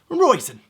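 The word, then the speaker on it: Róisín: And finishing it up for the hard to pronounce names comes the dried grape. Roisin. Love a good raisin.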